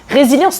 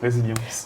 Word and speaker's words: Rézilyans: Le créole, tu ne prononces. Toutes les lettres se prononcent.